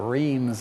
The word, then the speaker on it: Reims: can stop you cross r r or Reams as the Brits and the Americans say for sure now tell